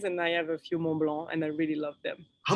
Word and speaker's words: Mont Blanc: Mont My Blanc. pronunciation, Mont Blanc.